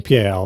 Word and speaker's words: PAL: Oh, apparently it stands for phase alternating line and is pronounced PAL.